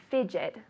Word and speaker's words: fidget: J in English good fidget so I say stop fidgeting right your mother tells you ah stop fidgeting stop fidgeting okay careful with that pronunciation the d g sounds like a j very good the second